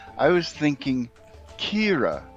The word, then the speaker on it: Ciara: It's spelled like Sierra, but it's Kira. You approach the lavish villa where you will make your debut and knock on the door. And Kira says, smile, be charming,